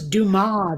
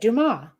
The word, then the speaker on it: Dumas: you just said it Dumas right it's not Dumas you don't pronounce the S yeah but I mean